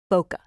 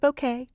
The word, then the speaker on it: bokeh: other very cool thing I should show is bokeh some people call it bouquet but the prop pronunciation is B like bow tie and C